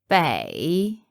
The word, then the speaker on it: Beijing: Bay and capital Jing Listen to How It's pronounced Beijing it's pronounced differently to how we say it Mandarin grammar is quite